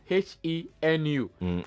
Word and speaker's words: Alechenu: Yes, that's ALECHENU. Alechenu, just the way it's pronounced.